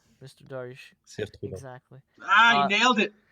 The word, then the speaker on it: Cire Trudon: Help me out with the pronunciation. Cire Trudon. Mr. Darish. Sir Trudon.